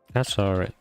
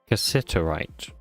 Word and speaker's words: cassiterite: Cassiterite. Can you tell me how to say it, please? Cassiterite.